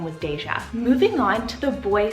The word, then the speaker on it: Deja: My husband actually added this name to this list last minute, and that is the name Deja. So it's spelled D-E-J-A, just like deja vu.